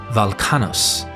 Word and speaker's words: Velchanos: Here, the W in the name is pronounced as a V and the ch c h is pronounced as k k. So, Welchanos should be Valcanos and has thus been